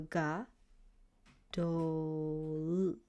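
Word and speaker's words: גָּדוֹל: is it's over here it makes an o sound so this and this will be combined to make do sound and then you have l the for lid so ga do that's how you pronounce it okay and this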